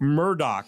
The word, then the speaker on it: Murdaugh: So anyway, but Alec Murdoch is the way you say it.